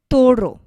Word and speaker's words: toro: here the word is toro means bull when I am saying Toro the stress is placed on this part means Toro the second to last part of the word and then Hoven Hoven